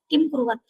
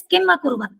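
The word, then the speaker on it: किमकुर्वत: make a mistake that they do not say kim akurvat, they say kim kurvat. So it is not kim kurvat, it is kim akurvat.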